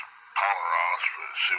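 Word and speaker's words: πονηρός: Now we're in John chapter 3, verse 19, and we're down to Poneros.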